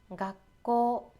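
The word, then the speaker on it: がっこう: 쉽게 하는 방법은 일단 이렇게만 발음할 것으로 생각을 하고 각을 발음한 다음에 잠깐 쉬어주면 돼요. 같이 해볼까요? 각고, 각고.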